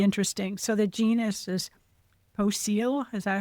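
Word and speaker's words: Poecile: So the genus is Poseel.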